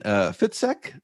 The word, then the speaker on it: Fitzek: thriller author and on Zoom I have Sebastian fitek did I pronounce that right yes totally right thank you